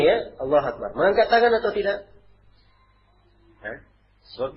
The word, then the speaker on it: Allahu Akbar: Ini bacanya ya, Allahu Akbar.